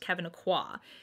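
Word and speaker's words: Kevyn Aucoin: Like, it actually took a really nice person telling me, actually Kevin Aqua is pronounced Kevin Aqua.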